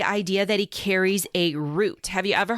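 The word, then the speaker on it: Rute: that he carries a root have you ever heard of a root no spell it R U T E okay what is that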